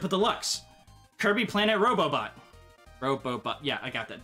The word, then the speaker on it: Robobot: Kirby Planet Robobot. Robobot, yeah, I got that. That was always confusing when I always wanted to say it like Robot-bo or something, or Robot-ot.